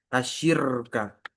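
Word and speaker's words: الشِّرْكَ: Ini di sini menyerupakan asyirka. Nah, ini bacanya asyirka maf'ul bih dari sybaha.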